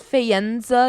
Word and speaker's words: Faenza: Um They are actually I think it's Faenza is how you pronounce it, Italy.